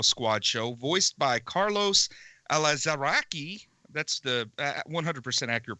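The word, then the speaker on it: Alazraqui: in the Superhero Squad Show voiced by Carlos elazari that's the 100% accurate pronunciation there that is how you say that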